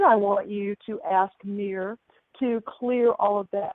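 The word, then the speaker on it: Mihr: This angel's name is Mir. M-I-H-R is how her name is spelled. Mir.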